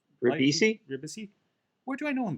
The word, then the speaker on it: Ribisi: Ribisi.